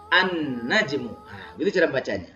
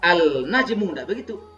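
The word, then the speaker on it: النجم: bertemu alif lam al-najm an-najm an-najm jadi prinsip pertama tetap hilang ketika masuk najmun dibaca an-najm Dibaca an-najm Bukan dibaca al-najm bacanya menjadi an-najm bintang menjadi bintang itu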